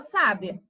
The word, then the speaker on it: sábia: dizer que ele sabia quando nós temos o acento aí na última sílaba então vai ser um sabiá e na penúltima sílaba a gente vai saber que é uma pessoa sábia então tem esse aí